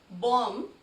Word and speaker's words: bomb: In the word bomb, B, the last B is silent. You do not have to put stress on the last B here. We speak it as bomb, not bomb.